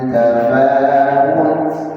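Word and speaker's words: تفاوت: Ma Fi khalqir Rahman tafaut tafaud banyak di masyarakat membacanya menjadi tafaud atau Tafa Tafa tafaw tafaw wau atau diikfnya nah ini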